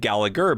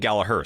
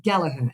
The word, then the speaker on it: Gallagher: validate that with anyone else I've always said gager but you're saying galaher so it's galaher is that the correct pronunciation yeah and it's and and our founder